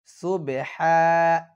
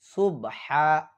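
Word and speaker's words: سبحان: এখানে যদি কেউ বলে সুবহা এটা বললে হবে না। এখানে বলতে হবে সুবেহা সুবে একসাথে সুবহানাল্লাহিমা ইশরিকুন।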